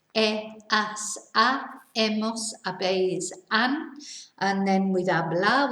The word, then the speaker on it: he: the h verb remember we don't pronounce the h so it's e and then with our